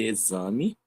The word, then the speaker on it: exame: a gente fosse botar o Z, né, a palavra, quem fosse ler iria ler a palavra normalmente exame. Mas a gente sabe que pela representação gráfica da língua português não se escreve e z a, se escreve e x a exame, mas se escreve echame.